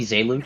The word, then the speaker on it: Zelux: Yeah, I was like in his stream the other day, and I'm pretty sure it's actually Zelux, so I've been saying it wrong basically my entire life.